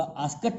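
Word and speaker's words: asked: चलिए मैं इसको काट देता हूँ, दोबारा लिखता हूँ, ये लिखना तो पड़ेगा आस्कड, लेकिन इसका उच्चारण जो है आस्कड नहीं होगा, आस्कट होगा। तो ही आस्कट सीता, उसने सीता से पूछा, क्या पूछा, ठीक है ना।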